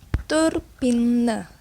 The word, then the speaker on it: turbine: Tulisannya turbine. Nah, diucapkannya turbin. Jadi huruf E-nya dilesapkan di akhir kata.